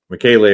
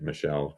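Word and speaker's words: michelei: But yeah, Michele is one that I learned better after pronouncing it Michelle for way too long.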